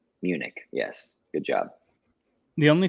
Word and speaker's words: Munich: Did I pronounce that right? Munich.